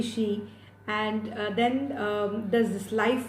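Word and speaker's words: qi: In China it's called she. A lot of people also pronounce it as qui, but it's actually she.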